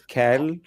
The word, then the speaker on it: CAEL: I think it is CAL. You pronounce Kale, it as yes, right. So pronounced like how the do you differ? vegetable that Yeah, yeah. is not too tasty.